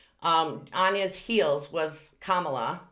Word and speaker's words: Kamala: on his heels was kamala which if you want to know how to say her name it's kama la um and she was